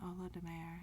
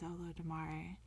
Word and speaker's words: Olodumare: And then I think I was saying Olodumare, but it's or maybe I was saying Olodumare and it's Olodumare. So I appreciate the feedback.